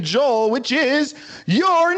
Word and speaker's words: Joel: What are 3 words that rhymes with your name? 3 Hole. words. Hole. Uh-huh. Hole. Coal. Roll. Awesome. Awesome. Very good, Joel. Those are 3 words that rhyme with the name Joel, which is your name.